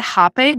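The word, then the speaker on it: rapé: it briefly, but the rape. How do you pronounce it? I've done it. Yeah, so you pronounce it hape, but it's spelled R-A-P-E with an apostrophe on the E.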